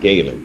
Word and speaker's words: Gaylord: Because it's pronounced Gaylord, not. It's not two separate words.